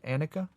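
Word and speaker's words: anicca: marks of existence impermanence in Pali pronounced Annika suffering or unsatisfactoriness in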